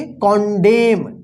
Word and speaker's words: condemn: देखिए यहां पे CONDEMN, इसको क्या पढ़ेंगे, देखिए यहां पे एम के बाद लास्ट में एन है, इसको क्या पढ़ेंगे, कॉन्डेम, कॉन्डेम, क्या पढ़ेंगे इसको, कॉन्डेम, क्या पढ़ेंगे, कॉन्डेम।